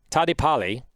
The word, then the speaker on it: Tadepalli: all right without further ado our guest tanesh tadi pali i pronounced his last name right for the first